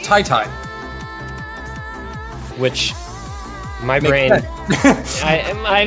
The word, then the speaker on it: qyty: we've been told that apparently qyty his name is pronounced Tai Tai which my brain I